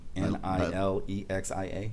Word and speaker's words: Nilexia: I don't know how to pronounce his name. Nilexia.